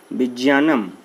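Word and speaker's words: विज्ञानम्: क्या है, विज्ञानम, और ज्ञ को संस्कृत में ज और ञ, ये दो वर्ड से बना होता है। अगर दोस्तों विज्ञानम की बात करें तो संस्कृत में इसका उच्चारण होता है विज्ञानम, ये इसका मूल उच्चारण होगा।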